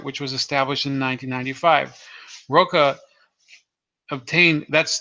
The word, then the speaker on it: Roche: 1995 Roca obtained that's that's how he pronounces it by the way not not Roche which is the typical way people pronounce it I spoke them personally I think he pronounces it roca so he obtained the